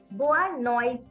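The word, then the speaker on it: boa noite: afternoon then we have bua noise and in Brazilian Portuguese the uh accent is we can say Goa noise because the pronunciation of tea in Brazilian Portuguese is sure so it's bua noises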